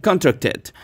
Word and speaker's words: contracted: en este caso nosotros vamos a pronunciar la e porque el verbo termina con la consonante t por esta razón es